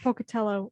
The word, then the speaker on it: Pocatello: individuals leaving ibuprofen laced hock dogs along the pocatello area did i say it right yes yeah